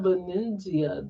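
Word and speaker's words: Venezia: I'm trying Venzia this year. Benzia.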